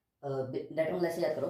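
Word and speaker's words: debtor: लोग इसको डेप्टर कहते हैं, डेप्टर, बी साइलेंट होता है, डेटर होता है।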